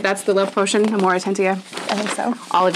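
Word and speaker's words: Amortentia: And the pattern, and I looked it up, I'm still probably going to pronounce it wrong because Hermione only says it like briefly, but it's the Amoratentia, right? That's the love potion, Amoratentia.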